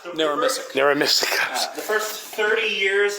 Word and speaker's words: Narramissic: Yeah, 5 or 10 was How do you pronounce it? NARRAMISSIC? NARRAMISSIC.